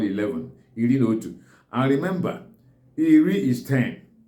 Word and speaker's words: iri na otu: How do you pronounce it in Igbo language? It's pronounced as Iri na Otu. It's Iri na Otu, that is 11.